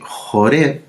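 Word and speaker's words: Horeb: monte sinaí o monte jure y ahora porque las biblias en español sale con h r de larga hora pero en el hebreo es porque se escribe con la letra jet sí y aquí el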